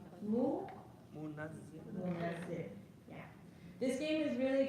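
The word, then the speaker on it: مُنَزِّل: Okay, so remember not to remove the shadda. So what you have is munzil. We want a shadda in there. To rhyme with mu'allim, منزل munazzil.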